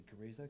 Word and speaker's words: chorizo: and the chorizo, and I should probably say chorizo because that's how you say it.